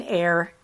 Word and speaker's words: Eyre: That is Jane Eyre, E-Y-R-E. Jasper Ford's last name, he's Welsh, so it's spelled double F.